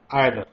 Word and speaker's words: either: आज हम बात करेंगे आयदर, जिसका प्रोनाउंसिएशन कुछ लोग ईदर भी करते हैं।